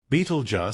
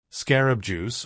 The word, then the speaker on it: Betelgeuse: could puzzle our Sky it is the star Beetle J commonly mispronounced as Scarab juice or Scarab Crush it's a red exceptionally colossal star on the